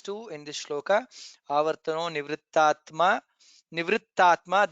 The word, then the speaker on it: निवृत्तात्मा: Nivrittatma, there is takara and additional takara. Nivrittatma is there, so you should pronounce that clearly.